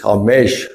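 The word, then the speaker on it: חמש: redemption by grace and in the Hebrew it's hamesh of or I don't think they pronounce it they do hamesh so ha mesh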